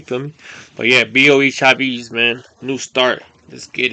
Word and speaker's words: Chavis: It should be Chavis.